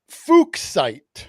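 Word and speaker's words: fuchsite: Now, how do you pronounce that without It's pronounced fuksite.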